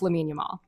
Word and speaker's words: Lamine Yamal: I believe it's pronounced Lamine Yamal.